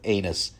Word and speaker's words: Aenys: Okay, that's spelled Aenys, actually, okay? It's Enos.